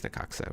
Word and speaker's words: Necaxa: I think it's Necaxa, right?